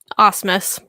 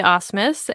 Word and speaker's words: Asmus: That is the right pronunciation, right? Asmus. Close enough. Asmus.